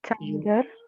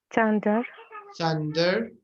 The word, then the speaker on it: thunder: Thunder. Okay. Maybe. Yes, and I think the pronunciation thunder, not thunder, isn't it? Thunder. Thunder. Yeah, with a th, like thank you.